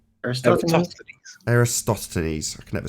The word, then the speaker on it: Eratosthenes: And that's where you get Aristophanes. How do you say his name? Eratosthenes.